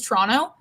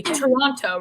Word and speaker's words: Toronto: how you cities say toronto right like you should pronounce the t's that are there and we're just like toronto i mean that's like